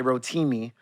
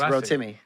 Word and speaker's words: Rotimi: timmy didn't i well some people say rotimi but it's real timmy throw timmy yeah real timmy yeah my fault we had our first conversation end of 2017.